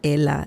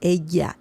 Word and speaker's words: ella: Maybe because they get confused between Spanish and Italian. It's not ella. It's ella.